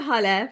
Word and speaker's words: Hale: I'm Hale, pronounced like hallelujah.